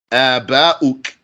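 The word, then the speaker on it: آباء: You can spell it this way. Aba. Two alifs there, stretching both of them. Aba. And a hamza at the end. Hamza makes the sound stop. It makes the air stop also.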